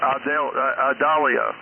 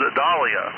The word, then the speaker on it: Idalia: That name is not pronounced Idalia. It's the I is silent. It's interesting to me that everybody's mispronouncing the name. Anyone that has that name, they are called Idalia.